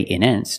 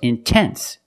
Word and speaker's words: intense: stress after the NT if you have a stressed syllable after NT then you have to pronounce the T example intense I put the stress after the NT so I have to pronounce a t I cannot say in